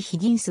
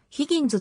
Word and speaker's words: Higgins: billy higgins b 類ヒギンスはアメリカ合衆国のジャズドラマー言語発音はヒギンズと濁る主にフリージャズと